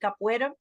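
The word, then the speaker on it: capoeira: I've done this afro Brazilian martial art called Capa I would have Capa at The Retreat as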